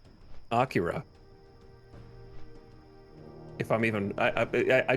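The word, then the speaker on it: Akira: the Shell is like as influential as like Acura if I'm even I I just realized how how do you pronounce that out loud I I I think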